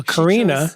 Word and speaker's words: Karenna: wanted but not the pronunciation this and the pronunciation so Karina both yes but you know I've got a